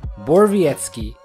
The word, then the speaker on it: Borowiecki: The second O is not pronounced, the W is pronounced as a V, and the C sounds like an S. Put all that together and you get Mark Borowiecki.